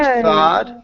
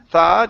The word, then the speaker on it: third: Okay, so instead of Third. thod, it's third, third grade. Third grade. Okay, let's practice that th instead of turd, it's third. Third. Good. So what I do when I pronounce that th, my tongue goes right here.